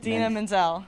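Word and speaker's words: Idina Menzel: it's Menzel or um is that how you pronounce her name I I did not it's Dina Menzel okay yeah you got that right how many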